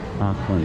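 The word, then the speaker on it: Acland: Actually, you spell it looks like A-C-L-A-N-D, Ackland Street, here in St.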